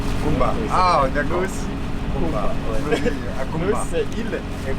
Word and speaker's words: Nosy Komba: Normalement c'est Ankumba. Nosy Ankumba, mais il n'a pas arrivé à prononcer Ankumba, mais c'est Kumba. Kumba. Ah, d'accord. Nosy Kumba.